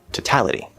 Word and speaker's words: totality: next word, totality. So that first syllable is now not stressed because we're shifting the stress to the second syllable, making it a weak T. That O in toe is most likely going to reduce to a schwa, t.